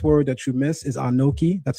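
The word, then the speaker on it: אָנֹכִי: So the first word that you miss is anoki.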